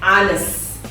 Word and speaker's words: honest: Di sini secara ortografi, secara tulisan, ya, kata ini diawali dengan huruf konsonan h, ya. Tetapi ketika dibunyikan, ini kan dipronunciationkan sebagai honest, ya. Jadi kata honest, karena honest bunyi yang